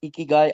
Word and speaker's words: ikigai: to you before is the Japanese philosophy of iky. It's pronounced ikyu i k e g ai.